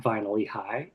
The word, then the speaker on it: Vinally High: is there you go it is viny eh high and that is spelled v i n l l y High podcast got it